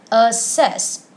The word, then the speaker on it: assess: access tab of the second word is assess with the stress on the second syllable now let's listen to